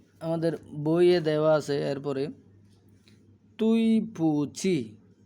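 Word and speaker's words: 对不起: সরির জন্য তুই পুচি এটা কিন্তু ডি না উচ্চারণ হবে ত এর মত আর এই উচ্চারণটা হবে চ এর মত তুই পুঁচি তুই পুঁচি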